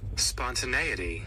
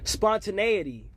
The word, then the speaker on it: spontaneity: I get to look at how it's pronounced and what it even means. Spontaneity. Spontaneity.